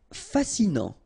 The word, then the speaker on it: fascinant: Fascinant, final T not pronounced, so you get this A-N, en, non, fascinant.